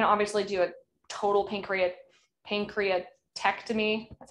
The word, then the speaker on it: pancreatectomy: situation they can obviously do a total pancreas pancreatectomy that's how you say it removing the pancreas